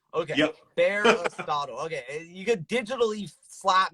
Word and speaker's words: Bearistotle: Bearistotle. Damn it, like Aristotle, but Bearistotle. Okay, Yep. Bearistotle.